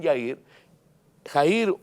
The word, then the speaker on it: Jairo: nombre jairo que quiere se escribe a ir a algunos lo pronuncian ya ir a ir o jairo padre de una niña